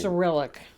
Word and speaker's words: Cyrillic: Cyrillic. Cyrillic.